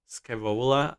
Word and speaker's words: Scaevola: Well, her name is Scavola. It's spelled Scaevola, and she's from Styges,